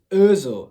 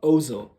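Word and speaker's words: Özil: uh when o has that double thought it's pronounced uh so it's urzo not ozo just a side note if you're interested um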